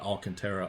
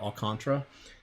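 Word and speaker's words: Alcantara: matchup against all can't I say his name wrong it's not all Cantera all contra and then I like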